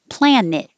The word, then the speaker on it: planet: ingenuity ingenuity cohering cohering planet i would usually say plan it which sounds just like let's plan it for friday but net or